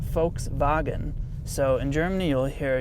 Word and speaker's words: Volkswagen: you pronounce Volkswagen well the V is actually an F sound in German so Volkswagen and then the the W is pronounced as a V so it's actually pronounced folks boggin so in Germany you'll